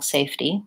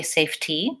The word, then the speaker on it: safety: safety sorry about that so it's just like safe and T Y and the spelling safety safety and I think we use a flap there as well so I don't say safety safety I use just a really light D sound so if I think